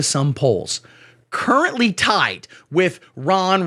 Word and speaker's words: Ron: Vivek, again rhymes with cake, all candidates should do this, is, according to some polls, currently tied with Ron rhymes with Tron, Spawn, or Juan DeSantis, who at one time was considered a possible heir to Donald Trump's very classy throne.